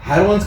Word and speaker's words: Heron: अब देखिए यहाँ पर क्या हो रहा है, इस जो फार्मूला है आपका हेरोन्स का फार्मूला, राइट, इसका प्रोनाउंसिएशन का हेरोन्स. Okay, हेरोन्स formula, हेरोन, हेरोन, हेरोन्स.